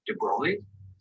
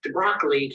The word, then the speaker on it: de Broglie: Everyone, I can't pronounce that name. De Broglie?